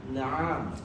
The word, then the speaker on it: نعم: Hadza dikun na'am. Naam. Itu bacanya naam. Kalau antum bacanya naam, entar di tulisan antum akan tambahkan alif.